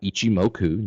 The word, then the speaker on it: Ichimoku: it's pronounced and how it's spelled it's called Ichimoku you spell it IC h IM oh k yuuichi moku